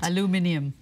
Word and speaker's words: aluminium: Aluminium. Yeah. You wanted to know the British pronunciation. I'll concede that one with you. So aluminium. That's foreign to us.